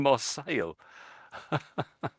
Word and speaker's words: Marseille: Marcel, he's saying Marcel.